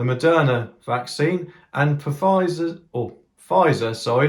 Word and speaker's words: Pfizer: vaccine and profit or pfizer sorry not puffizer they spell it with a silent p like my mate rick